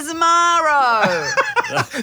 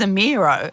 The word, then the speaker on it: Zemiro: How did he pronounce your name? Julia Zemiro. So that was, my pronunciation was close to his. Yeah, and I said to him at one point, you know it's Zemiro.